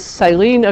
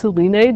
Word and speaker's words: Silene: This is Silene acaulis, sometimes pronounced Silene, depending on, I guess, how you learned it.